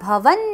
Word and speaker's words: भवन: उच्चारण हम कैसे करेंगे इसमें बहुत भ आ रहे हैं भूत भव्य भूत भव्य भवन नाथ दो न है वहां पर आधा न और पूरा न सो भूत भव्य भवन नाथ पवन पावन नल